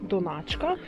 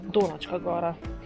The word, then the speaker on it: Donačka gora: How to pronounce Donačka gora correctly? I would have thought that it was Donáčka, because he was St. Donát, I doubt that he was St. Dónat, but... I have heard Dónačka gora several times in conversations...